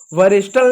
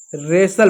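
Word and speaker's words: wrestle: क्या राइट पढ़ेंगे आर आई T right W silent है यहां पर इसको इसको वरिस्टल नहीं पढ़ेंगे रेसल पढ़ेंगे रेसल पढ़ेंगे यहां पे इसको वहु नहीं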